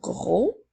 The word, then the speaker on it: gros: page je continue avec le mot gros n'oublie pas la lettre muette je continue maintenant avec